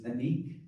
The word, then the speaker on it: Anique: My name is Anique. Anique. The way you pronounce it is like Unique but with an A.